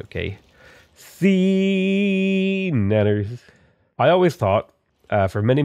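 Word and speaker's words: SeaNanners: thought his name was Sean Nanners. Okay? Because it looks like Sean Nanners, but no, it's Sea Nanners.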